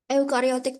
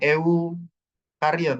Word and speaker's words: eukariot: ke eukariot atau prokariot eukariotik Pak Yu kariot jangan e kariot ya bacanya y y u tapi tulisannya EU ya EU euariot Tapi bacanya eukariot nah eukariot itu ada